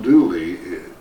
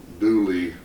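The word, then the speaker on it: Dula: But Tom Dooley, you pronounce his name the same way the Grand Ole Opera, O-P-R-A. It should be Opry, but anyway, Dooley is that mountain slang word for his name.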